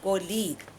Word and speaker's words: colleague: A is totally silent here. Written colleague but pronounced colleague.